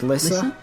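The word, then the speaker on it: Lyssa: Lysa. Lisa. It's spelled L Y S A is Lisa. Okay.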